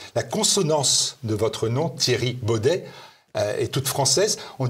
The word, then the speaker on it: Thierry: à consonance française oui c'est très difficile en fait pour les Hollandais pour de de prononcer Thierry dans une manière française donc ils disent souvent Terry ou Thierry c'est c'est pas aussi français que le nom indique alors le forum pour